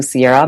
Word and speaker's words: Sierra: search for me Sierra my last name is spelled pretty much like it sounds s i e r